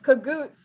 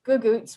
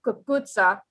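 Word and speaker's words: cucuzza: well, cagouts is a mispronunciation, I think, of gugoots, which is a slang pronunciation of kagutsa, which is basically a really long way to say zucchini.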